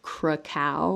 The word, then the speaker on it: cacao: is a neurotoxin and they actually call it krakow like crack so um and i